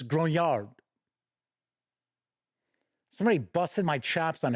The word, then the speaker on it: grognard: a lot of the Grog nards which is not how it's pronounced by the way I noticed a lot of people say grognard that's why I'm saying grognard it's gronyard somebody busted my chaps